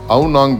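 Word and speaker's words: Ao Nang: இது லோக்கலில் எப்படி ப்ரொனன்சியேஷன் பண்ணுறாங்கன்னா அவுனாங் பீச் அப்படின்னு சொல்லி ப்ரொனவுன்ஸ் பண்ணுறாங்க.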